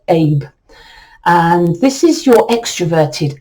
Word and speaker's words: Eb: So your masculine or outgoing sign that supports your knife day sign is Road or Abe. It's spelled Eb, but it's pronounced Abe.